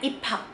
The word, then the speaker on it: 입학: B ketemu sama H jadinya kayak 입학. Muncrat kayak gue nih barusan. Jadi dibacanya 입학.